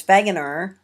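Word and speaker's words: Wegener: name of Alfred begner I know it's spelled wager but it's vager um he's a German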